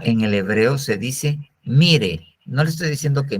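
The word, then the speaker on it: מרעה: el hebreo se dice Mire no le estoy diciendo que mire sino así se llama mire m i r con acento en la e tanto en el griego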